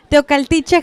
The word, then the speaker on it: Teocaltiche: Teocaltiche, Jalisco.